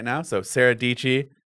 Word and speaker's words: Dietschy: right now so Sarah dichi rhymes with PG I I I I